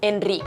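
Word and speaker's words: Enric: que ese nombre bueno en general esas e atonas en el Catalán occidental se mantienen más o menos como las e en castellano en ric sin embargo en la zona Oriental se pronuncian neutras o directamente abiertas como las he pronunciado yo porque ya sabéis que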